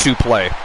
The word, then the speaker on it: suplex: same yes suple uh suplex is actually pronounced Su play SU play like Su play Buster